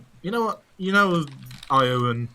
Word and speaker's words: Ioun: How do you pronounce that freaking name? Ioun.